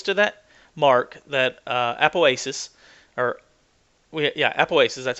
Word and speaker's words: apoapsis: When it gets close to that mark, that apoapsis, apoapsis, that's how you say it.